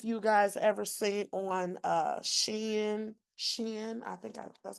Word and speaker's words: Shein: I don't know if you guys ever seen on Shein, that's how you say it.